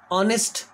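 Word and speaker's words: honest: क्योंकि वो जो कॉन्सोनेंट लेटर होता है वो साइलेंट होता है. जैसे ऑनेस्ट, ऑनर, आवर.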